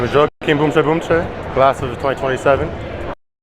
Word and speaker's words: Joaquim Boumtje Boumtje: The The correct pronunciation pronunciation of Joakim Boumche Boumche, let me just Let's Let's hear it from him himself. My name is Joakim Boumche Boumche.